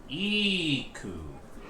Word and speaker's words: Eku: you go dramatus personae so nikku is pronounced eeku then yeah cool yes